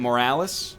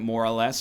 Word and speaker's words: Morales: yeah more or less not lieutenant Morales who I pronounced as lieutenant more or less for a while and